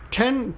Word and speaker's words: 店: Ten, this can be pronounced mise, or in this case, ten, is when it's added to something, it's ten.